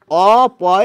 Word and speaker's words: অপু: রস উকার অপু তা এই যে অংশ যখন বলছেন তখন কিন্তু অ এর উচ্চারণ অই বলছেন অংশ অং অ বলছেন আপনি আবার দেখুন লিখছেন অয়ে কিন্তু বলছেন ও পু এই অ এর উচ্চারণ ও হচ্ছে আর এই অ এর উচ্চারণ অ হচ্ছে অর্থাৎ অ এর দু